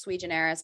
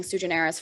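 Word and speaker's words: sui generis: know um uh sujaneris i know it's supposed to be pronounced sweet generous but i've been saying suggenerous forever and i'm just like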